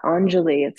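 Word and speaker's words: Anjali: means to offer okay how cool is that angel it's spelled a an j a l i Angeli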